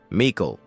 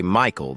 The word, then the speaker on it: Mikael: Mikael, he says. People always mispronounce it and say Michael though.